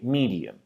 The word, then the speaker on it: medium: And if we look at it, we say medium.